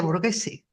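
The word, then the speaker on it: Borghese: bergese ese tío bueno Villa borguese que también es con gh se dice Villa borguese Sí claro yo creo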